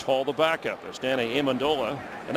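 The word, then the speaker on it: Amendola: the backup as Danny amandola and that's how he likes it pronounced by the way amandola he said people call me amandola I don't mind but in our family we like it amandola former Texas techar who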